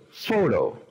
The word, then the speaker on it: photo: En esta palabra, foto, decimos photo. Primera sílaba es la que tiene el acento. Photo.